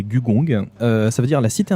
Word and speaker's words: Gugong: Alors, aujourd'hui, je vais présenter Gugong, prononcé Gugong.